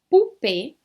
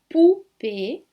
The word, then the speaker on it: poupée: E nada de tentar pronunciar aqui o nem u.